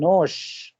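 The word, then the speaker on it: нож: हाँ मतलब pronunciation is same. Nose, ये है नोश। So there is a difference between nose and nosh.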